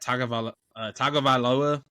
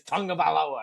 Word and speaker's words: Tagovailoa: how you actually say his first name, but they got Tagovailoa as their quarterback.